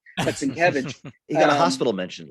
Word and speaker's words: Sienkiewicz: podcasters and YouTubers need to learn how to pronounce his last name. But Sienkiewicz, He got a hospital mention at least.